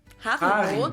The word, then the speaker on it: Haribo: everyone knew that Haribo is actually German we pronounce it Haro H and again the name originates in the